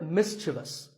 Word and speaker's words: mischievous: like in the word mischievous this is not mysterious there is no I after the V the last syllable is just thus so mischievous and then there